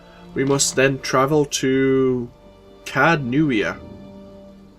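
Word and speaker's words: Caed Nua: We must then travel to Cadnuia. They've got a lot of silent letters in their kind of vocabulary. It's Cadnuia.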